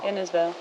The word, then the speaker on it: Innisfail: and install insale innisfail innersville you've got to say it like it's vale vale pretty sunny campsite it's